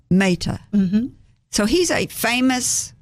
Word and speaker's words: Mehta: Mehta.